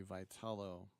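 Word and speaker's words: Vitello: The new manager of the San Francisco Giants, it might have escaped your attention, is a guy named Tony Vital. That's how he pronounces it.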